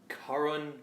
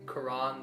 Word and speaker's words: Karan: Nobody really knows how to pronounce it. My whole life, it's brought me pain. Karan. Karan. Quran, the holy book of Islam. Crayon.